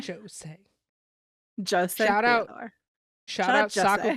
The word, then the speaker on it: Jose: Souray, Piqué Subban, and Jose Theodore. I don't know why I said it with a J. I know how to say the name Jose. Jose.